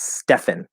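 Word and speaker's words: Stephan: it bugs me because it's stefan the ph represents an f sound right but again this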